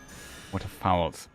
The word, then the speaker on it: waterfowl: Waterfowls, that's how it's pronounced.